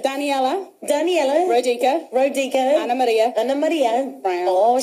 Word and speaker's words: Maria: Anna Maria Brown. Oh, she likes to roll the R. Maria.